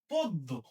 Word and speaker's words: পদ্য: আচ্ছা, একই ভাবে এখানে দেখো, দয়ের সাথে জ ফলা যুক্ত ব্যঞ্জন, তাহলে পয়ের সাথে যে অটা আছে, এই অ এর উচ্চারণ সংবৃত হবে, তার মানে অ এর উচ্চারণটা ও এর মতো হবে। তাহলে আমরা এটা কি পদ্ম বলবো, গদ্য বলবো? না, আমরা বলবো কি পদ্য।